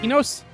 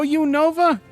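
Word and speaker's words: Unova: How do you how you supposed How you supposed to pronounce it? Enos. No, you Nova.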